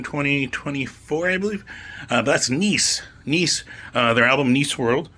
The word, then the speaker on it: Niis: If you haven't checked out Nice, check out Nice. It's spelled Niis, so that way you know how to spell it.